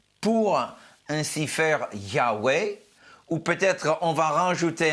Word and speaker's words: Yahweh: Donc, parfois, on rajoute un A et un E pour ainsi faire Yahweh, ou peut-être on va rajouter un E au